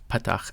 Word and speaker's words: patach: And petach is in very subtle nuance difference, but we're going to pronounce it much the same. Patach, ah, ah.